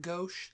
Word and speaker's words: gauche: States can be considered gauche. Is that how you say it? Gauche? Gauche, yeah. Gauche.